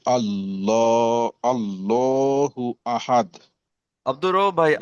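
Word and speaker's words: أَحَدٌ: হামজা জাবার আ, হাদ আল জাবার হাদ। আহাদ। সবাই বলেন, আহাদ।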